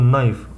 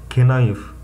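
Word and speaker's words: knife: بعدها على طول، فبنقول نايف وليس كنايف، الكي سايلنت عاملها لك بالاحمر اهو عشان وانت بتذاكر تفتكر انها سايلنت.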